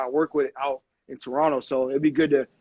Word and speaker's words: Toronto: people who don't know people who aren't from the city always pronounced the last T Toronto and we just kind of we skip over like Toronto it's like an extra extra n or something there at the end so you'd fit in